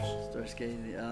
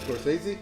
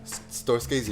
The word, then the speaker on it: Scorsese: Storscasey. I can't even say his name, but yeah. Who? Scorsese? Storscasey, yeah. Scorsese.